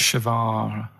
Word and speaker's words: Che Guevara: Che is like shake. And his his surname is like guitar. Right. Che Guevara.